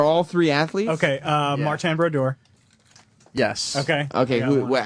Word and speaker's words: Brodeur: I spelled it Brodoor. Brodeur. That's incorrect, but okay.